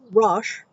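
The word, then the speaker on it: rosh: Also in the LXX, when the Hebrew word for head or rash, R O S H, meant rule or authority,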